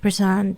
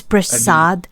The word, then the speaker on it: Prasad: It's Prashad. Prasad. It's a D not T. Oh, Prasad like the the one that they gave in the temple. That's what I know. Yeah. Yeah. Yeah. Yeah. Oh, Prasad.